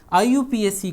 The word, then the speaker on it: IUPAC: IUPAC को pronounce आप लोग करेंगे इस तरीके से, जैसे IUPAC। आप इसको प्रोनाउंस ऐसे करेंगे IUPAC।